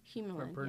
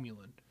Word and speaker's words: Humulin: Humulin, I'm pronouncing that correctly? Yep. Humulin.